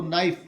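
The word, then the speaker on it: knife: क की ध्वनि जो है, के की ध्वनि जो क निकलती है, उसको हम साइलेंट रखेंगे, उसको न पढ़ेंगे। जैसे यहाँ हम इसको नाइफ पढ़ेंगे, नॉट कनाइफ।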